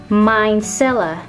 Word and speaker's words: micellar: ค ำ นี้ อ่ า น ว่ า micellar solutionMycella solution solution ก็ คื อ สู ต